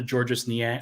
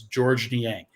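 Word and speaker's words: Niang: George Nang excuse me I keep calling him georgees because that's how his name is spelled but I was I was uh told on a podcast that or like on my own podcast that it is George Nang um just like a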